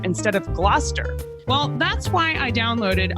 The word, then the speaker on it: Gloucester: Like originally I said Gloucester instead of Gloucester. Well, that's why I downloaded Audio Shakespeare Pronunciation app.